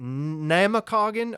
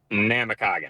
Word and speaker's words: Namekagon: Give me the proper pronunciation of the Baron's name. Is it Namakagon or is it Namekagon? Namakagon.